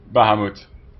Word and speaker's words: Bahamuth: are Behemoth baham bth I don't know how you want to pronounce it in English keep it on baham Bahamut like the Dutch way Bahamut um wait wait